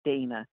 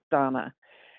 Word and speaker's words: Donna: get in touch with donna winter who was living and by the way that's how she pronounces her name it's not dana it's donna okay and yeah well